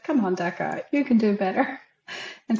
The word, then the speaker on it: Deika: a pretty unique name Deca I mean and you were straight up about it I think in our first conversation you said hey my name is DECA okay like deck of cards okay now we can